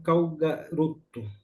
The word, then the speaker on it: Calgaroto: pela irmã irmã Madalena Calgaroto. É, é a irmã Irma é assim que se pronuncia, irmã seu nome, seu sobrenome como Cal garoto.